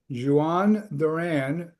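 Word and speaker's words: Jhoan Duran: here, but um they they got to it's pronounced Jawan Duran closer from Minnesota.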